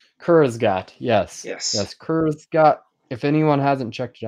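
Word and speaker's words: Kurzgesagt: Kurzgat. Kurzgat. Yes. Yes. Yes. Kurzgat.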